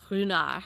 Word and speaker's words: Ruinart: We just finished the most amazing tour at Ruinart, also pronounced Ruinart. That's the right way to say it.